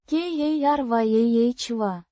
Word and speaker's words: Коряво: Pronounced. ka-RYAH-vah. With the stress on the second syllable.